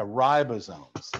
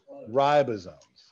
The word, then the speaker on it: ribosome: you're right or not it makes a long long eye long eye yeah ribosomes long eyes ribosomes long eyes the eye